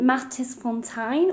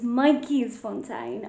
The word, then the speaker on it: Matjiesfontein: Lord Milner Hotel, and this is in Matjiesfontein or Myjiesfontein. I'm so sorry. My pronunciation is terrible, but it's Myjiesfontein. I keep saying the other one that I just said.